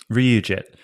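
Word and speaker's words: RyuJIT: a thing called re I don't even know how to pronounce it Reit RIT that's R Yu Ryu jit um so Ryu jit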